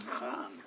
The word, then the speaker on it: Khan: that my name was, I've been mispronouncing my name my whole life. It's Khan, I was told. Now, that might have been by some Afghan warrior, but Khan.